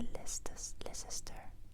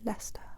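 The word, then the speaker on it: Leicester: angles cette grande ville et la L pas les sister les sister la star tout simplement la star la star la star la star las et puis notre deuxième ville encore en Angleterre ici je l'ajoute ici.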